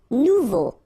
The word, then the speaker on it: nouveau: Nouveau. Remember, combination of E, A, and U together, it's O. So you get nouveau.